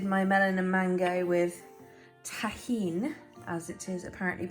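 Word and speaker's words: Tajín: watermelon um this is what i've been calling tajin having watched a recent episode of abby's kitchen is actually pronounced tahin um it's like chili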